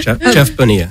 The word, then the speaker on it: Bonilla: Jeff Bonilla.